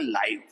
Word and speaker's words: live: तो दोनों की सेम स्पेलिंग है, लेकिन कहाँ प्रोनाउंसिएशन चेंज होगी डिपेंड करेगा कि कहाँ इसका यूज करेंगे हम। जब इसको एडजेक्टिव के रूप में यूज करेंगे तो ये लाइव बन जाएगा।